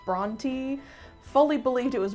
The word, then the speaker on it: Brontë: By the way, I only recently discovered that it's pronounced Bronty. fully believed it was Bronte my entire life.